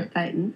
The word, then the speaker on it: thetan: So a thetan, we pronounce it a thetan, in Scientology is a consciousness.